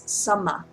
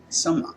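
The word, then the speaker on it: sammā: There's a Pali word for appropriate. It's samma. Samma. Samma.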